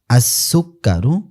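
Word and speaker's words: السكر: এরপরে আসুকারু, সিনটা কি আসুকারু, সিনটা এখানেও কিন্তু লামটা উচ্চারিত হয়নি, লামটা উচ্চারিত হয়নি, কারণ কি সিন হলো হরফে, সিনটা কি সিনটা কিন্তু হরফে শামসিয়ার অন্তর্ভুক্ত।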